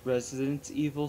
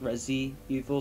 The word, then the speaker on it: Resident Evil: For future reference, we realize that it's Resident Evil 6, not Resi Evil 6.